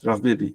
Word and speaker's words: Rav Bibi: I just want to make sure I pronounce his name right. Rav Bibi, right.